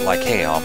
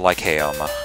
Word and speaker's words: Lycaeum: Some people pronounce it Lycaeum. It's, I think either or is correct.